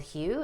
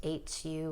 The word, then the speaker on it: Hu: One of my favorite ones is called Hu. It's pronounced H-U or Hu.